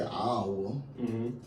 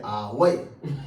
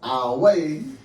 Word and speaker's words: Iowa: And, normally, historically, or history, we would say Iowa. But they say our way. So I do know that is pronounced our way and not Iowa.